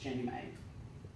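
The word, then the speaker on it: JNEMA: And anyway, they founded this foundation, the Jefferson National Expansion Memorial Association, pronounced Jenny May.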